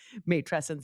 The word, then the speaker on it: matrescence: intangible, both tangible and intangible, that exist within matrescence, which of course I had to go and look how to even pronounce that word because it's not one that I even know how to pronounce properly. Matrescence, did I say it properly?